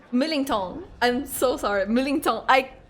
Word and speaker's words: Millington: Millingong. I hate myself. I hear myself. Why can't I make this sound English? There is a clear English pronunciation. I hate myself. Millington. Millington.